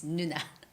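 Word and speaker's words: 누나: summer summer summer very similar to the word nuna it's not na it's not it's nuna yeah call me nuna so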